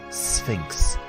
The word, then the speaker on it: Sphinx: and Monument the Sphinx this word can be tricky to pronounce you have an S sound then an F sound Sphinx the Sphinx is a